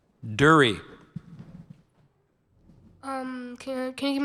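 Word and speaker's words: dhurrie: Dury.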